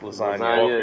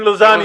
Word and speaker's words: lasagna: Like everybody knows that G in lasagna is silent.